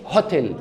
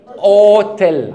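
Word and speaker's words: hôtel: دي فهن طقها ازاي مش مش هنطق ده هنطق الاو فندق اسمه بالانجليزي هوتيل عندنا مافيش ه ه دي مش موجوده اوتيل على طول واضح وده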